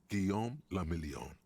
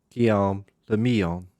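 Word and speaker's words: Guillaume Le Million: meant only one thing guillaume lamillion kill if it doesn't rhyme you're not pronouncing it right guillaume the meon right got it out of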